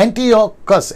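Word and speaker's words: Antiochus: में यह आता है एंटियोकस, एंटियोकस, ठीक है ना। इसका प्रोनाउंसिएशन यही करा था ना हम लोगों ने, हाँ नहीं ये वाला एपिफेंस।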